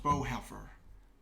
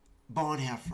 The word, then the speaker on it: Bonhoeffer: So I remember when it's called, I believe it's pronounced Bowheffer. Let's go into Atlas because that's what I have it here for. It was Bonhoeffer. I believe that's how you pronounce it.